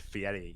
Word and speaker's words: Fieri: area yeah next one Guy Fieri Guy Fieri it's actually pronounced Fieri yeah yeah alrighty he's